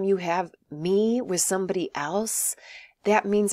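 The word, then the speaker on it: elles: feminine so it' be El and the S is silent so even though L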